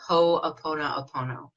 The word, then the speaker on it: ho'oponopono: I love it's changed my life it's called ho'oponopono and it is a an ancient Hawaiian tradition